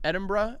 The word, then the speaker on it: Edinburgh: Well, so we took the red eye into Edinburgh. Am I saying that right? Yep. Because it's not pronounced.